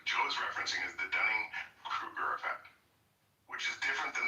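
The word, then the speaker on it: Dunning–Kruger: and and I like to call it the Dunning Kirk effect.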